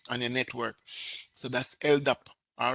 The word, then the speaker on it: LDAP: All right, LDAP, that's how it's pronounced, and it stands for Lightweight Directory Access Protocol.